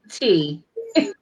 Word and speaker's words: Tei: And last but certainly not least, T. And this T, the E and the I is silent, and I'm your CBT mom.